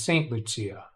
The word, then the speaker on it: Saint Lucia: I think he's saying there the right pronunciation is Saint Lucia.